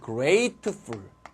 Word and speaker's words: grateful: 요거 조심할 건 발음을 조심해야 되는데 요거는 grateful. 자, grateful이고 얘는 gratitude 이렇게 됩니다.